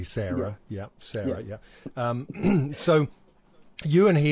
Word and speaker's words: Sara: And it's S-A-R-A, which we would say Sarah.